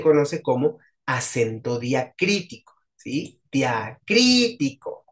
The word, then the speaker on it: diacrítico: como acento diacrítico Sí diacrítico con tilde en la primera I bu Perdón en la segunda y di crtico o sea cri es la sílaba tónica Sí por ejemplo vean